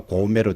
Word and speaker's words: 고매: 동부 경남에서는 고매와 같이 고고형으로 발음되는 데 비해서 서부 경남에서는 고매와 같이 저고저형으로 발음된다는 차이가 있습니다. 고매, 높낮이 차이가 느껴지죠?